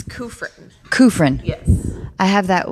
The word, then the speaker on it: Kufrin: unqualified becca will you help me um pronounce your last name yes it's kufrin kufrin yes i have that with my first